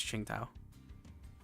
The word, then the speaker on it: Qingtao: Qingtao. Assuming it's doing normal Chinese pronunciation, it's Qingtao. At least the closest you can get in English.